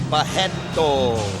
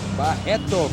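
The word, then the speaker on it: Barreto: perfect shape and the the RS in Brazil you pronounce as H you will say bajetto bajetto Caron bajetto 100% Jesus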